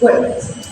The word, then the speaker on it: words: The correct pronunciation is words. Let's break it down. The, and the. When combined, it becomes words. However, our participant pronounced the word as word. Instead of saying words, the participant stopped at word and didn't pronounce the final z.